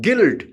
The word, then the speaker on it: guilt: Guide, G-U-I-D-E, guide, U is silent. Guilt, G-U-I-L-T, guilt.